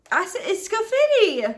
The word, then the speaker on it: Scafidi: No, it's Scafidi!